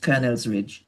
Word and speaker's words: Colonel's Ridge: It's spelled C O L O N E L S. That's right. Colonel's Ridge.